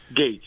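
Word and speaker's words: Gaetz: Lunge towards uh at Gates of Florida how you pronounce it okay Gates yeah Gates yeah yeah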